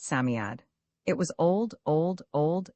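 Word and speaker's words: Psammead: Sami is pronounced Samiad.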